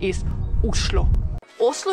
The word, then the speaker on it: Oslo: of Norway and actually in Norwegian the right way to pronounce the name of the capital isloo is a great starting